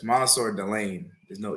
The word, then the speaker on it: Mansoor: so first off, it's spelled Mansoor, but it's actually pronounced with an O. So it's Mansoor. So it's Oh, Mansoor, yeah, it's Mansoor Delane.